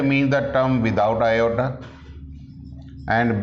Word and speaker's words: iota: So in complex number we have assumed, let under root of minus 1 is equal to iota, so that iota square becomes minus 1. This is pronounced as iota.